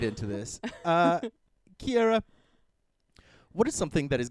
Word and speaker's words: Keira: with odd names no it's key as in key in a door air as in the air you breathe ah as in the sound you make when you understand how to say my name ah Kier okay okay